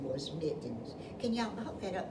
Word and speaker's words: Mittens: but his name was Mittens. Can y'all hook that up? Maybe I can spell it. Let's see. Mittenen. It rhymes with kitten, doesn't it?